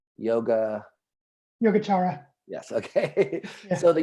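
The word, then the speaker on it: Yogācāra: So I know you told me once and I forgot already, but it's Yogacara.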